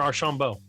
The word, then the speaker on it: Archaumbault: Archaumbault or Archaumbault?